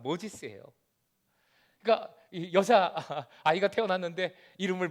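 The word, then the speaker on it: Moses: 우리 발음으로 하면 모세의 영어 발음 모지스예요.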